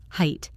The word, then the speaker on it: height: Height and high are connected, and the adjective high, of course, makes the same vowel sound.